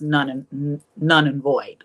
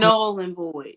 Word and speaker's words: null and void: move to Florida, it's none and void, or what they say. Is that how you say it? None and void. It's null and void. Null and void. It's not valid. N-U-L-L.